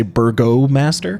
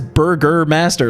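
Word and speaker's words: Burgomaster: i literally quick aside i literally typed this word into google to have it pronounce it for me thinking it would say burgo master because it's spelled that way but it says burger master like literally says burger master and i'm just like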